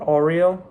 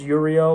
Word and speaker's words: Uriel: you have the uh the Archangel Uriel or Oreo however you want to kind of pronounce it some people say Oreo some people say Uriel I I use Uriel but it's kind of up to you which one you want to use and you're still invoking